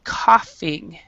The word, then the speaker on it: coughing: is not going um it is actually coughing okay and so maybe the